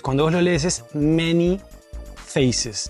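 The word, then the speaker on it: Man-E-Faces: La E en inglés se pronuncia como I. Entonces, cuando vos lo lees es Many Faces.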